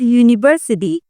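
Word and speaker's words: university: a book a यूनिवर्सिटी यू कैन सी the word यूनिवर्सिटी start with a vowel letter but it gets sound of द कसोनेंट letter यूनिवर्सिटी that's why वी यूज़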